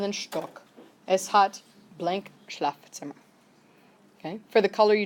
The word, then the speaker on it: Schlafzimmer: And that last word is pronounced Schlafzimmer.